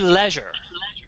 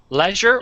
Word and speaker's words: leisure: so we have leisure some people say leisure pleasure leisure or leisure it's the same word depending on what part of the country you're from you might say leisure or leisure either is good or either is good